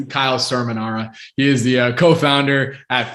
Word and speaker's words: Cerminara: Or for those who know, it's Kyle Cerminara.